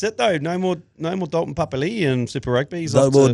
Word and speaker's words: Papali'i: Not a nickname, but Dalton Papali'i in the way that the NRL commentators pronounce it.